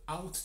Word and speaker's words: ought: Maintenant, je te parle de should ou alors de out to. Out to qui s'écrit O-U-G-H-T plus loin to, T-O.